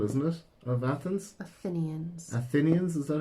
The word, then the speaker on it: Athenians: Athenians, is that how you say it?